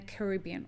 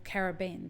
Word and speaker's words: Caribbean: But CLAC takes care of, or is the fair trade organization for Latin America and the Caribbean, or Caribbean, depending on how you say it and where you're from.